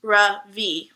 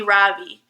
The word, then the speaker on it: Ravi: first name is Ravi it's pronounced Ravi with a soft brush and a strong V in Sanskrit it means the Sun in America people call me Ravi with the stress on the first syllable that doesn't mean anything